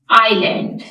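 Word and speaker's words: island: last में आपको लिख आईलैंड जजीरा इसमें एस साइलेंट है तो यहां पर मैंने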